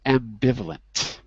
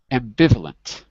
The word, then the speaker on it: ambivalent: go backwards here's forwards ambivalent ambivalent good try it backwards lent lent valent valent not B like like boy but V like violet yeah violent yeah violent